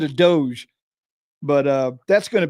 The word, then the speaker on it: DOGE: department of government efficiency I'm hearing them saying it's Doge but I like to say doggy it's much easier for me to remember dog e instead of Doge but uh that's going